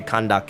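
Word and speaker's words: Candace: respectful as possible and that is my choice in why I say kandake and why I say Seno because for me that is what I've been told and that is what I have researched as the correct way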